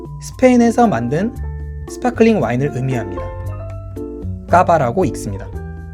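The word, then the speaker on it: Cava: 까바라고 읽습니다.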